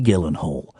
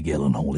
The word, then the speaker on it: Gyllenhaal: And that woman is Maggie Gyllenhaal. Hi, Chihuahua! What a lady! What a woman! And I respect her so much that I'm saying the hard G. It's a hard G.